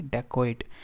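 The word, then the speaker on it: dacoit: अब यहाँ इसकी जो प्रोनाउंसिएशन होगी वो होगी डेकोइट.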